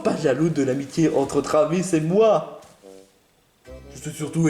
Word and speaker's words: Travis: pas salut trois VI on prononce Travis pas trois VI en tout cas pas